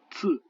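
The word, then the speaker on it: 字: Et enfin, le Z, qui se prononce tse. Par exemple, ici, le mot qui veut dire idéogramme, tse.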